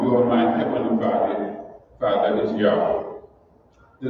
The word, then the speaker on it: Yahweh: It is pronounced Yahweh by the Hebrew speaking people.